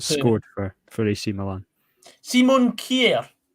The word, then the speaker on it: Kjær: How do you pronounce that guy's name that scored for AC Milan? Simon Kjær. Kjær.